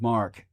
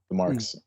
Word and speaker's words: marque: I'll letter letters of mark. Uh it's spelled Marque.